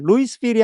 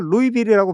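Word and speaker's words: Louisville: 그런데 여기 동네 이름이 루이스빌이 아니라 루이비리라고 발음이 돼요 미국에는 일리노이나 아칸사처럼 S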